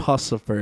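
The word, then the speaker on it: Puscifer: Pucifer. It's like Lucifer. Lucifer. Pucifer. I don't know if I like Pucifer.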